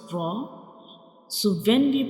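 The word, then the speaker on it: راء: To pronounce ra, we will touch the tip of tongue to the back side gums of upper to front teeth like ra, ra, ra.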